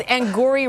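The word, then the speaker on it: Angourie: It's Angori Rice. It's Angry. Angry, right?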